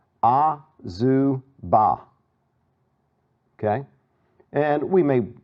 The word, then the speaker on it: Azubah: Let's see, AZU BAH, right? Okay? All right. So looking at this, you know, break it down into syllables again. It's, in fact, break it down like that. Azubah.